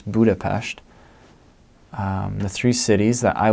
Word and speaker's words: Budapest: cities outside of Budapest which is actually pronounce pronounce Budapest the three cities that I would highly recommend